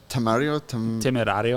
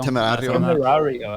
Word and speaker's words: Temerario: So the name It's for like- this car is Temerario. Temerario.